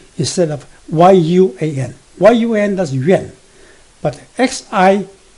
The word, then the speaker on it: Yuan: But X-I-U-A-N, Xuan, instead of Y-U-A-N.